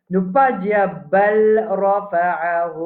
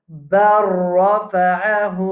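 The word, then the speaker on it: بل رفعه: Alors, nous pas dire bal rafa'ahu Allah. Bal rafa'ahu Allah. Nous pouvons dire bar. Vous avez entendu comment nous pouvons prononcer, nous dire bar. Bar rafa'ahu Allah.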